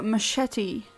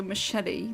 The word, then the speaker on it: machete: Oh, machete. Okay. English pronunciation is just really stupid sometimes.